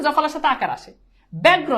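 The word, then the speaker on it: ব্যগ্র: জফলের সাথে আকার আসে ব্যাগ্র দেখো জফলের সাথে আকার নাই উচ্চারণে জফলের সাথে আকার আসে ব্যবস্থা আকার নাই আকার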